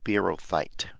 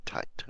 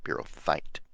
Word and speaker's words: Beerothite: Let me repronounce. It's the Beerothite, not Tite, Beerothite.